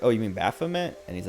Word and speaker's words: Baphomet: or whatever or he said he said the name wrong uh and i was like oh you mean baphomet and he's like yeah yeah and i was